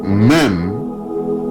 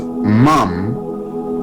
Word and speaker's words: Mem: Mem, which is mam, also pronounced ma, is talking about flowing fluid.